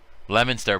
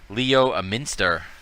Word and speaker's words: Leominster: oh there's another one bret leminster lemonster brett leo leominster leo a minster lemonster oh god we're dropping